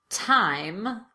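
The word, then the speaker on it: thyme: The most common exceptions are words that are spelled with TH, but pronounced as t, or the T sound.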